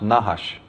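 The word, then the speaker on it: נחש: semetic for serpent is nahash of course they didn't use vowels so it's just nhsh but that is pronounced nahash and it actually means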